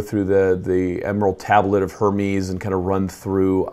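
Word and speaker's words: Hermès: I don't speak French, so I don't know how to say it. Hermes.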